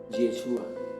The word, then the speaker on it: Yeshua: jaguar hoy ese cuerpo se pronuncia actualmente en el hebreo actual yeshua así dice yo soy